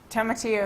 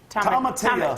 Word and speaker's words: tomatillo: You don't pronounce it's the two L's are more of a Y sound.